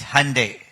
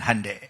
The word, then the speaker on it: Hyundai: It's Hyundai. Sunday and Hyundai.